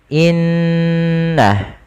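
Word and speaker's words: إنّ: nun yang berharakat tasydid cara membacanya yaitu menahan suara ghunahnya dan menahan suara nnya sepanjang dua harakat baru dilepaskan seperti apa seperti ini Inna tidak langsung dilepaskan secara langsung innalladzi karena dia bacaan guna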